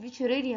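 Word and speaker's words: Wuchereria: يعني ليه قلنا الفي بتتنطق الدبليو بتتنطق في؟ لان دي كلمه الماني، واحنا في الجيرمان في اللغه الجيرمان الدبليو بتتنطق في، فعشان كده بنقول فيشيريريا بانكروفتي وبروجيا مالاري.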